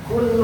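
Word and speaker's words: قُلْ: Pakai qaf, katakanlah Allah, katakan. Benar pakai qaf. Kalau kita tidak hati-hati membacanya menggunakan qaf, pakai kaf. Qul huwallahu ahad. Berubah maknanya, Pak. Dari katakanlah Allah berkata jadi makanlah Allah.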